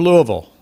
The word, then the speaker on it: Louisville: Army, stationed at nearby Fort Knox, and when I had the time and opportunity, I'd head for Louisville. You hear, I think, the correct pronunciation of that city.